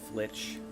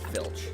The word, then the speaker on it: flitch: Uh, put away the flitch. Aha, I said it right again. I for years I called it filch until this stream.